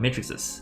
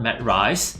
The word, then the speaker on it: matrix: i'm finally talking about matrixes it's called matrix with the x pronunciation not matt rice you know the deal